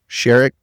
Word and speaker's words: Sherrick: Sherik. Sherik. All right. I, uh, I have had a hard time pronouncing some of my guests names.